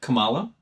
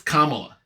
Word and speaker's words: Kamala: How do you spell it? How do you say it? Kamala? It's Kamala.